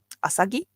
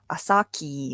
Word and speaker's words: Asagi: know the correct pronunciation asagi yeah some people don't know how to pronounce it asaki or something great i'm hungry i